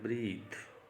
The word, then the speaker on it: breath: यहाँ पे नाउन है, अगर इसके बाद ई लग जाता है तो बन जाता है ब्रीथ, लेकिन ये इसका प्रोनाउंसिएशन क्या होगा? ब्रेथ। तो एज ए नाउन प्रयोग हुआ है ये।